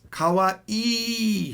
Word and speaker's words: kawaii: Now notice, kawaii has two E's at the end of it. So it's kawaii. A lot of people mess this up. They say it wrong, and it sounds like this. Kawaii. Kawaii means scary.